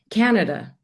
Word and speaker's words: Canada: How do you say the name of your country itself? Canada. So you are saying Canada, Canada, Hmm. Canada. And what we Canada. Indians do is we say Canada, Canada.